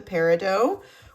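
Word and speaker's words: peridot: career pile two we have the parado or the parad do I always thought it was parad do until I heard it differently but we have the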